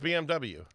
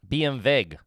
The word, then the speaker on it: BMW: It's pronounced BMW. BMV.